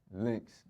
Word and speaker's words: Lynx: What is the correct way to pronounce your stage name? Lynx. Just Lynx.